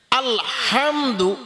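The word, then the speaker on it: الحمد: আলহামদু মানে সমস্ত প্রশংসা এখানে হা হলকের মাঝখান থেকে হবে শক্ত করে হা এক অনেকে আছে হা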